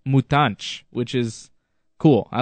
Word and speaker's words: Mutante: You know, for instance, I was calling Cesar Mutante. I was calling him Cesar Mutante, but I found out as the season went on that it's actually pronounced Mutanch, which is cool.